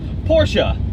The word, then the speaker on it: Porsche: not super low girl Porsha not American just say Porsche I think it's actually the Germans actually put on something fortunate yeah like eh Porsche it they say it different but it's not Porsche it doesn't rhyme with porch no it's definitely not a porch and it is not